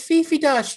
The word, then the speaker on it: Fifi Dosch: It's Fifi Dosch, Chip.